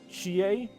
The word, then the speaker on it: Chie: Which I'm just realizing I'm in some discussion videos, technically it's Irie for Irie's name, and Chie for her name. But honestly, by this point, of me mispronouncing and failing to get the pronunciation right